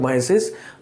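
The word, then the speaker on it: meiosis: এরপর হচ্ছে মিউসিস, অনেকে উচ্চারণ করে, আসলে মিউসিস না, এটাকে মায়োসিস। তোমার উচ্চারণের মধ্যে অনেক পার্থক্য নিয়ে আসছে বেশ কয়েক বছর আগে।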